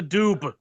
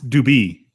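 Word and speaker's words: Dubh: Reserve Harvest and Ola Dube again I don't think it's actually pronounced Dube it's it's it's dubie well brother it's got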